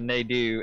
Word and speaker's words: Nadeau: Alright, I'm just now seeing Artie mocking my pronunciation of Nadeau as if I didn't watch Jerry Nadeau in NASCAR for years, and yes, that was how his was pronounced, so feel free to